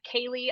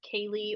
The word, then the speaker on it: Kaley: but plug them again yes so my name is spelled k-a-l-e-y last name is you can find my performance Instagram Kaylee underscore and for makeup Artistry everywhere I am at Kaylee Beauty awesome and we'll have the links